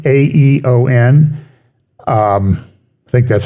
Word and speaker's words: aeon: always a big controversy he said eat a dark Eon or dark dark aeon and he always says well it's not East it's not Aesop's Fables it's esop's fables and